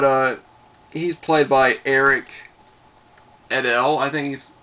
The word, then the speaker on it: Idle: his name but uh he's played by Eric edel I think he's how you do it how you pronounce it i dle e but he's been